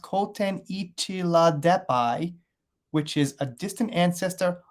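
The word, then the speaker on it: Kootenichela deppi: really the 505 million year old fossil called koteni chilla deppy pronounced koten ichila depai which is a distant ancestor of lobsters and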